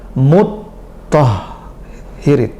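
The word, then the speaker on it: مُطَّهِّرِين: Karena pengucapannya lebih serius. Mut tah irin. Dengan dua tasydid.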